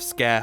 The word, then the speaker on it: Sker: Having your grand reopening of Scare Hotel, yes, it's pronounced a scare, because, you know, why